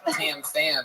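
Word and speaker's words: Tam Pham: For those of you that didn't read his shirt, Tam Fam is spelled TAMPHAM. Word to that. Oh yeah. Heavy on the PH.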